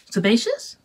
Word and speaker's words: sebaceous: How do you spell it? S-E-B-A-C-E-O-U-S. Sebaceous?